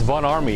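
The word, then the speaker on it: Von Ormy: It's Von Army. It's pronounced with an A.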